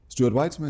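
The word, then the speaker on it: Stuart Weitzman: is uh Christian is also was collaborating with Stuart whitesman right did I pronounce it correctly Stuart whitesman wh yeah we won an award y um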